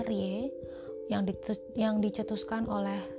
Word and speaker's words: RIE: Rei atau RI e-kita jadi singkatannya erye dibacanya Rie yang dites yang dicetuskan